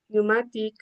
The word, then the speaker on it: pneumatic: We also have words with silent P. Uh for example, in our patients with N, S and T. As examples we have um pneumonia, pneumatic, cabort, psychologist, psychotherapy etc.